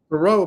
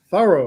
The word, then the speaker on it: Thoreau: B That name is pronounced Tho- I was Thoreau. Thoreau my whole life, but it's now Thorough.